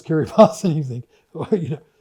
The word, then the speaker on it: Kiribati: such as, you know, Kiribas is spelled Kiribati and only if you've lived in the South Pacific do you know is Kirbas and you think, you know, so these are interesting equities.